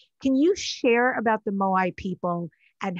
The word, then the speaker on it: Moai: The Moai people, is that how you say it?